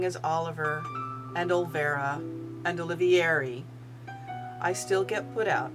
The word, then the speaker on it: Olivier: mispronounce my last name it is o l i v as in Victor i e r that's Olivier not Oliver not Olivier but Olivier and despite the fact